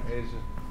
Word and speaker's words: Ajah: Asia got a pretty name. Yeah, Asia. It's spelled AJAH.